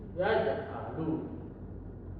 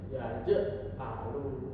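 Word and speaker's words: يَجْعَلُ: Contohnya seperti yaj'alu, yaj'alu, yaj'alu. Jadi tipis, Teman-teman. Enggak dibaca tebal seperti ya alu itu yang salah. Jadi dibacanya secara tipis ya ahlu. Begitu.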